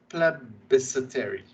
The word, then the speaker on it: plebiscitary: Plebiscitary. That's how it's pronounced.